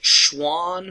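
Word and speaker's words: Schwann: And one way that I remember it to keep the guys separated, I think Schwan rhymes with swan and swan's an animal.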